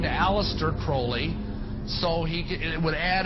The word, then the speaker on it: Crowley: learned about aleister crawley he likes to be have his name pronounced crowley to rhyme with holy and uh the satanists